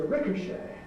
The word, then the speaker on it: ricochet: Well, I pronounce that verb to ricochet. But there are people who pronounce it ricochet. I've never actually heard that pronunciation, but it's recorded in dictionaries, so maybe it exists.